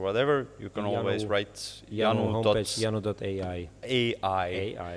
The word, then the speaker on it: Yanu: I thought Yanu with a J, that is in Estonia. Thirst, right? But the advertising agency pointed out that then it would be pronounced Jano, and it's a bit confusing.